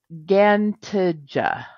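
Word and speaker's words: Ġgantija: complex, and it's called Gantija. It's spelled GGANTIJA. But what word does that sound like to you? Yeah, I mean, I'll let you say it, but yes. Giant. Like Yep.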